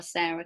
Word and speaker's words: Sara: Is it Sara or Sarah? Because it's Sara, right? Yeah, it's Sara.